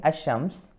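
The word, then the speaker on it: الشمس: So in ash-shams, the lam is not pronounced, the lam is not pronounced or read, it is directly ash-shams, this way, right?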